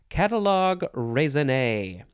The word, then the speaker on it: catalogue raisonné: Okay, next we have catalogue raisonné. This has got to be French, right?